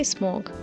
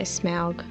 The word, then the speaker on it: Smaug: smog smashes the um i say smorg maybe i should say smaug i guess that's probably the better pronunciation for it but yeah he smashes